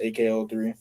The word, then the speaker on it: EKE03: So if you want to go ahead and listen to my latest single "Summer Vibes" by EKE03, pronounced AKO3.